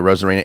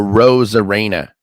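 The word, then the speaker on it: Arozarena: parodies and Randy a Rosara and by the way it's a Ros Arena yeah yeah I've been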